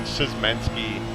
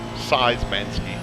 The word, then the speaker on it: Susmanski: were saying I was I was pronouncing susmanski as seismansky and they were making